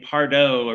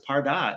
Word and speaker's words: Pardot: I wondered, I was saying Pardot originally, many years ago, sure. and turns out it's Pardot.